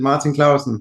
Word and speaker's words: Martin Clausen: Martin Clausen, is that right? Martin, I kind of lost sense as the years have gone on. I'm living abroad, but yeah, you nailed it, Martin Clausen.